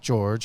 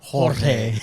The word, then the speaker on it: Jorge: I said George, and he said it is Jorge.